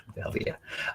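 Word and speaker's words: Velvia: Velveta.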